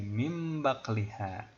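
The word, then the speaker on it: مِنْ بَقْلِهَا: Maka dibacanya nunnya lebih ke mim. Jadi mim baqliha.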